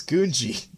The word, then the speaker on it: Gungi: How's it pronounced? Mac's going to be so mad at me. It's Gungi.